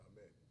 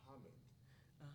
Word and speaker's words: Ahmed: So we were talking one day, and I saw the different spelling phonetically, and my name's not Ahmed, it's Ahmed.